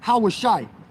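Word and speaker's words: הושע: The way you say his name in Hebrew is Hawashai.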